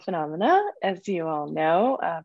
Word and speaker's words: Funomena: great so um uh my company is called phenomena as you all know uh pronounced f-f-u-n-o-m-e-n-a phenomena like a lot of people get it wrong